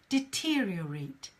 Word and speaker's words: deteriorate: chat box this word is pretty hard to pronounce for a lot of people which is DT real rate deteriorate deteriorate deteriorate try try repeating deteriorate DT real